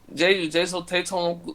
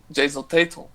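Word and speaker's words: Jayson Tatum: Jason Tatum não conseguiu jogar por conta de Giannis. Giannis estava naquela noite inspirada. Gostei da pronúncia, fala de novo aí. Gostou? Jason Tatum.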